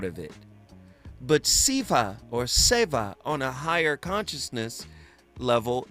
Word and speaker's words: seva: And that's how we pronounce it in English, seva. But in Sanskrit, it's sayva.